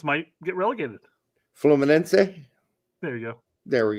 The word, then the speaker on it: Fluminense: Well, I just didn't know it had an A sound at the end. Sure. I knew the rest of it.